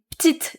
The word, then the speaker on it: petite: In this section, you might hear j'ai une petite crêpe au chocolat instead of j'ai une petite crêpe au chocolat. Now, some regions will pronounce petite the right way, and others will tend to cut the E sound.